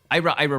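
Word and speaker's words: IIRIRA: the illegal immigration reform and immigrant responsibility act pronounced Ira Ira and some of the most significant portions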